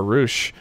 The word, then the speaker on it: Roosh: Because Roosh rhymes with douche.